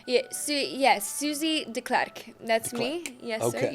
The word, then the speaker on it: Susie Deklerk: Yeah, yes, Susie Deklerk.